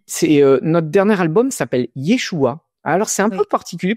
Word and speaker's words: Yeshua: Yeshua, c'est le nom de Jésus prononcé en aramé.